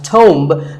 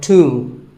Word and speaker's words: tomb: It's often wrongly pronounced as tomb, but the B is silent and the O is pronounced with an oo sound. So tomb.